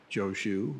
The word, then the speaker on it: Joshu: if you don't know Master chow chow or Joe shu is pronounced in the Japanese version uh famous uh famous